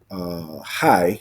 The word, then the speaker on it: HAI: So another essential high, that's what you call it, that's how you say it, high, is utility is ETB.